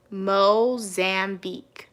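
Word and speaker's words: Mozambique: Okay, Cats and Pokémon said it's pronounced Mo Zambique. Oh, Mozambi.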